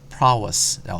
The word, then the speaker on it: prowess: prowess라고 해서 발음 직접 들어볼까요? 자, 갑니다. 아까 제가 찾아놨는데, 예, 들어보세요. prowess라고 하죠.